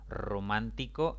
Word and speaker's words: Romántico: Romántico es una palabra de 4 sílabas. La mayor intensidad recae en la antepenúltima sílaba contando de izquierda a derecha. Por lo tanto, debe colocarse le tilde.